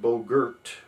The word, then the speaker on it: Bogart: mexico sweet lips tennessee it's spelled bogart but it apparently is pronounced bogert ohio lick skillet virginia